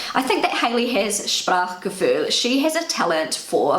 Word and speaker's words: Sprachgefühl: the English language is Sprachgefühl. So that's how I say it in my Kiwi German, and this is how it's pronounced on Google Translate. Sprachgefühl.